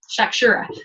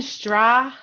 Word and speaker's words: shakshuka: Shakshuka. So now you know what shakshuka is if you hear somebody talking about it. Yeah, I want to know, how do you spell that again? Shakshura?